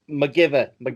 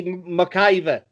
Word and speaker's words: McIver: guy's name is Grant McGiver. Well, probably it depends on where you're from in Scotland, how you pronounce it. So how do you say it? How do you say it? It would be McIver.